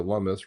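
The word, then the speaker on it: Lummis: Senate side, her and Cynthia Lumis, rhymes with hummus.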